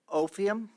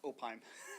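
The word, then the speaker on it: Opheim: And Ophiam, is that how you pronounce it? Probably not. Nope, nobody ever gets that one right. It's Opime. Opime, Yeah. okay. Like Anaheim, but without the Anna in there.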